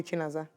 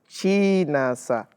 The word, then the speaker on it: Chinasa: Half of them call me Chinaza. So, So that's not the correct pronunciation. exactly. So say it now. Chinasa.